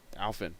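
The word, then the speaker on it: Alphin: Yep, it's spelled A-L-P-H-I-N, but you say it A-O-F-I-N. Alfin.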